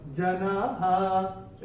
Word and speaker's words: जनाः: नियम है नहीं, मगर चौथे चरण की समाप्ति पे जो विसर्ग आ रहा है, विसर्ग का उच्चारण केवल और केवल ह ही होगा। जनाः, ऐसे करके आएगा।